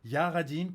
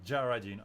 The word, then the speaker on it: Jah Ridin': Ça se prononce Ja, c'est le dieu des Rastas, c'est des Rastafari. C'est vraiment un nom anglais. Ouais, ça se dit Jared, c'est tout. Ok, ok. Jaradine.